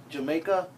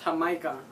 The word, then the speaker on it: Jamaica: If you can see, Jamaica. But hah-MY-kah. It's pronounced hah-MY-kah.